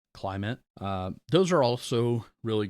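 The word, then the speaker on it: Klymit: And then they make I think there's a Climate. Um, I think that's spelled with a K. It's K L Y MIT. Climate.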